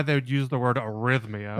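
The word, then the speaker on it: arrhythmia: would use the word arhythmia it's a ra it's a rather long word yes yes it's Valentine's yes it's a heart but arhythmia come on there's a silent h in there for most people but anyway gets you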